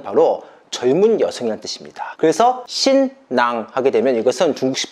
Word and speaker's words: 新娘: 우리나라에서는 신부란 단어를 쓰고 있는데 중국에서는 신부란 단어 대신에 신낭, 중국식 발음으로 신양이라는 단어를 쓰고 있습니다.